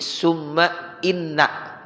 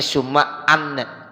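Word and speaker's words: ثُمَّ إِنَّ: Kalau habis summa, kalau lafaznya ada inna, jangan dibacanya anna. Jadi summa inna ya, jadi jangan bacanya summa anna.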